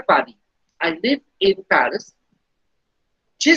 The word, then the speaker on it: Paris: J'habite à Paris. The pronunciation of Paris in French is Paris. The last S being silent.